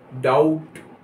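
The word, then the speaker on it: doubt: कहेंगे डी ओ यू बी टी, डाउट। यहां पर बी साइलेंट है, डाउट।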